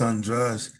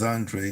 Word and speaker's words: Andrade: good, or even Demetrius Andrade. He won't pronounce his name. I think he gets sick of trying to explain it to people, but everybody says Andre, but I think that's actually wrong.